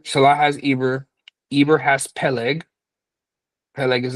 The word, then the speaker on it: Eber: Sometimes you can see Eber's name written with an H, but the H is silent.